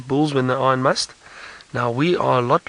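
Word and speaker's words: musth: So Kylie, the word must, and it's spelled M-U-S-T-H, is originally an Indian word, I believe.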